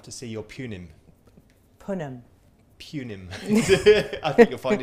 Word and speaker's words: punim: Punim. I think you'll find it's the British pronunciation.